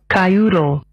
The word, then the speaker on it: kyoodle: Our word of the day is spelled Kyoodle. Kyoodle. Cayudo.